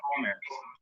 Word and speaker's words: commerce: And so it's again about the pronunciation, prop with people and commerce. It's not the accent is on the first syllable, commerce.